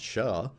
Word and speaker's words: SHA: we're going to use something called sha which i like to pronounce sha lifetime 24 hours that's the config we're going to put on router 1.